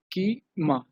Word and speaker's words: schema: my sequel database so information schema is like as the phonetically each sound information key ma okay so information schema